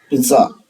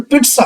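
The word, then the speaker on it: pizza: वैसे पिज्जा को सही उच्चारण पिट्सा होता है। ये ऑक्सफोर्ड डिक्शनरी में आप देखेंगे तो आपको पता चलेगा इसका राइट प्रोनाउंसिएशन पिट्सा होता है, लेकिन पिज्जा चलता है, हम बोलते हैं, ये एक्सेप्टेड है, तो इंडिया में पिज्जा ही बोला जाता है।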